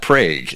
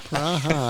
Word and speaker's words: Praha: Now, it's not Prague, is it? Well, I think, Praha, I think, my memory is that... Praha! Praha, I think Praha is getting into the neighborhood of a more authentic pronunciation.